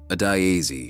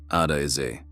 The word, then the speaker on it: Adiazi: "Adiazi," she said. He said it back correctly. All 4 syllables, without hesitation. Adiazi.